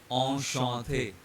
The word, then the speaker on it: enchanté: First one is pronounced as enchanté. You can see here there is one en here and one an here, and they both have same sound en.